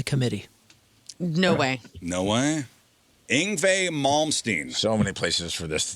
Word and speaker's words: Yngwie Malmsteen: Did any of them pronounce Yngwie Malmsteen's name correctly? Yngwie Malmsteen. 1 down. Yingwie Malmsteen.